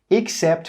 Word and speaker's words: except: 'Except' with an E is pronounced as 'except'. Except. That first E sound is actually pronounced as an /ɪ/.